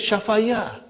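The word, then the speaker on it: شفا: This ya is also alif because we are pronouncing shafa, Actually it is shafaya. Okay? But the lam kalima is ya, it is naqis, so we pronounce it as shafa. Shafa.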